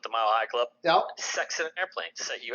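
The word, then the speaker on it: sechs: And then the 6, in German, it's pronounced as sex.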